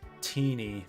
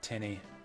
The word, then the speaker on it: Tinny: Oh yeah, I've seen online that it's apparently pronounced Teeny, not Tinny.